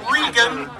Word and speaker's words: Reagan: Reagan, pronounced Regan.